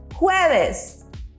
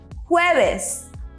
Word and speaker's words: jueves: Jueves. Did you notice we pronounce the J as if we were saying who, but a little bit stronger? So repeat after me. Jueves.